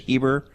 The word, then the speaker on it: Heber: name right is it heber you did you did great a lot of people want to add an r in the middle of it okay good excellent tell